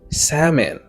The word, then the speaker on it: salmon: On allait pour prononciation c'est salmon.